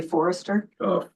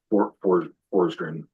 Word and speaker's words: Forster: Did you say Forester? Forster. Okay.